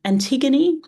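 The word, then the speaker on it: Ἀντιγόνη: Antiggony in ancient Greek is antiggon.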